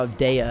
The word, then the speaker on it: O'Dea: Clara O'Dea is really how you'd probably pronounce it.